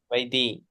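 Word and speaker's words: vaidhi: How do you pronounce it, Prabhu? Vedi. Vedi. Vaidi.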